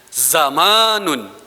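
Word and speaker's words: زَمَنٌ: langsung ke kosakata berikutnya ada zamanun ah ah bacanya zamanun Bapa orangnya lagi zamanun jamaknya azmina tuning ini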